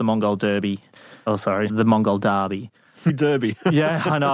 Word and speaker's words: Derby: Derby. Yeah, I know. I can hear my British counterparts abroad going, it's pronounced Derby, sir.